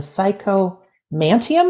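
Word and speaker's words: psychomanteum: music and number seven the psycho mantium am I pronouncing that right yeah that's it yeah so where do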